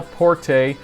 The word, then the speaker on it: Porte: Colton Lockwood gets the 11-yard pass from Cal Porte, or Cal Port, I think is the correct pronunciation.